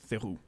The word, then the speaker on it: Theroux: It's not Theroux. It's Theroux.